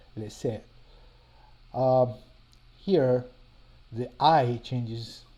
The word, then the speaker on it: laisser: See, for example, this word laisser, where the A and the I represent a sound that's more like so this word here is laisser.